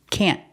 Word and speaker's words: can't: express that it's negative don't worry about pronouncing the T can't we use a stop T can't the tongue goes up and stops the air he can't play basketball